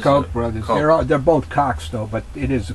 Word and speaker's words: Koch: They're both Kochs, though, but it is the Koch brothers. Yeah. They're both. That's the proper pronunciation.